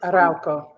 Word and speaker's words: Arauco: Most recently, she served as Arauco. Am I pronouncing that right? Tell me. Fix it. Arauco.